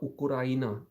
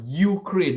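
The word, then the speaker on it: Україна: Yeah, we all call it Ukraine, right? And it's completely wrong. It's not it's not crane. It's Ukraina. There's no U. There's no crane.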